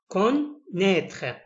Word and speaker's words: connaître: الأ إي بيتنطق إي فبينطق connaître.